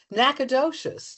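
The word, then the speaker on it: Nacogdoches: Nacadocious.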